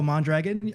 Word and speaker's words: Mondragon: Um uh about me, my name is Mondragon. Uh yes, you can roll your Rs if you want to, but I don't get that fancy.